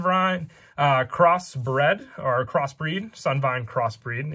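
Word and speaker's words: Sunvine Cross Breed: cross bread or crossbreed sun vine crossbreed is how you pronounce it you tribute one link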